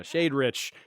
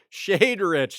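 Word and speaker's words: Shadrich: rich sad rich yeah shade rich shade rich that's how you pronounce it and it's pretty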